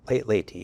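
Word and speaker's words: Leyte: Did I pronounce that correctly? Laty.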